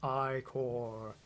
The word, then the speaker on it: Ichor: fill it with magical eye core that's pronounced i core choose your eye core